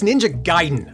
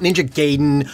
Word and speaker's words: Ninja Gaiden: i'm curious to know it's ninja gaiden okay not ninja gaiden or ninja gaiden though i don't think anybody has ever claimed that last one is correct just like it's gif